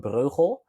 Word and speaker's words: Breugel: I try to pronounce my surname it's pretty hard it's super Dutch so my my full name is yes if I'm brojo but what people can